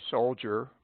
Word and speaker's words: soldier: Pronounce grandeur, soldier, verdure, and some other words with D pronounced as J.